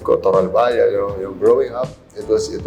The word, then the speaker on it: Toralballa: Rex um mention pa natin last name ko toral baya Growing Up It Was it was kind of